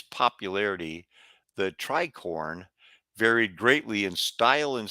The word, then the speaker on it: tricorn: Now, the tricorn, not tricone, the tricorn cap, that's a gang sign for these other people.